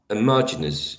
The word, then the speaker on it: homogeneous: i know this uh this word has a stress or on the second syllable let me double check maybe i may be wrong but last time i checked uh homogeneous yeah homogeneous the second syllable is the one stressed the one you know